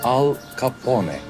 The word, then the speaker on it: Al Capone: kendisi İtalyan göçmenidir ve ismi al capone diye telaffuz edilir çok güzel bunları öğretin